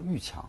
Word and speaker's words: 蔚强: 啊，我们一般管它叫玉强啊，这个也是特别是问了他本人，因为这个字儿呢是多音字，同时也读魏字啊。